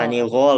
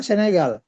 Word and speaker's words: Senegal: Sanigol, bacanya Sanigol. Tapi bacanya Senegal, Senegal aja.